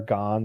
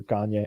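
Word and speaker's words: Gane: just remember him training how do you pronounce it right i think so or or gone or gagne i say gagne um i had seen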